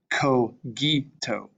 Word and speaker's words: cogito: C's and G's are always hard, meaning they're not like s and zh, but more like k and g. So this word here is cogito.